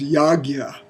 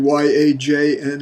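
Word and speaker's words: yajña: teachers is uses the the pronunciation that I've come to use more which is yagya in my training with my teacher adid dah we it was transliterated Y A J na a and we pronounced it yajna but yagya I think is the I don't know I just like it better some my eccentricities here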